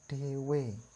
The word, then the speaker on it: dewe: Contoh yang pertama adalah dewe. Dewe. Ada 2 E, sama-sama dibaca jejak.